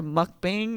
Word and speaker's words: mukbang: I pretty much had a mukbang, is how you pronounce it, by myself, listening to Carrie Underwood sing the sad love songs.